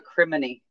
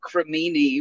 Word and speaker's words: cremini: I've heard other people say it as like crimini, but I like criminy.